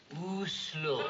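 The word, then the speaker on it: Oslo: city there and I never know how to pronounce it is it oh slow or a slow o slow thank you you're welome this is kic real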